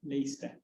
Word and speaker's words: Leicester: How do they pronounce this, Wincy? Leicester. Leicester University, so the C is quiet.